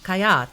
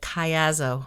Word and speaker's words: Caiazzo: my name is my last name is Kayo it's pronounced kayat so in Italian but uh we're in the Americas so I think we're good with the Kayo although it gets tripped